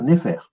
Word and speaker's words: nfr: Donc c'est NFR. Donc ça va se dire Néfer.